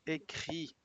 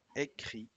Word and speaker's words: écrit: Il connaît, il comprend, donc il comprend desaparece la S, de todas formas no se pronunciaba, et écrit avec T, tampoco se pronuncian las consonantes finales.